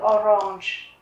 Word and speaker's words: Orange: Die Orange, thì không phải là gốc Đức, cho nên cách đánh dấu trọng âm là của tiếng Anh. Các bạn thấy ở đây có dấu phẩy, tức là chúng ta sẽ nhấn vào chữ orange, d-orange. D-kartoffel, d-butter, d-milch.